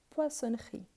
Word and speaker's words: poissonnerie: et oui à la poissonnerie poissonnerie attention car les double S c'est obligatoire pourquo pourquoi parce que sinon on change complètement les sens du mot je vais à la